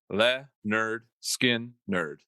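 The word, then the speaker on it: Lynyrd Skynyrd: album august 13 1973 leonard skinner released their debut album literally titled pronounced the nerd skin nerd album includes tuesday's gone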